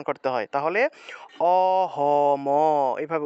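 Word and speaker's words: অহম্: নিয়া উচ্চারণটা হবে অহম অহম এখানে দেখুন অহম ম টাকে পূর্ণ উচ্চারণ করতে হবে এটা মানে এই দুইটা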